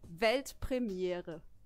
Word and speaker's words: Weltpremiere: It's actually Weltpremiere. Pretty similar, right? I think I could do that. Yeah, do it. Weltpremiere.